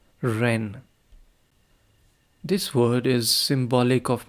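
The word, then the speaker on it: 仁: And although we romanize this word in English as jen, it is pronounced ren with a sort of rolling ar ren.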